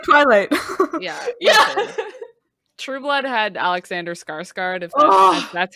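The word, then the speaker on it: Alexander Skarsgård: nothing just like twilight yeah true blood had alexander skarsgard that's how you say his name anyway it's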